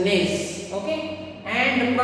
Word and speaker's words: gneiss: Okay, look at this spelling, G-N-E-I-S-S, gneiss. Okay, and the pronunciation of this is gneiss.